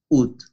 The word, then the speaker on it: août: Le mois d'août, août, una U española y una T, así se pronuncia. Août. Ut. U y T. Ut.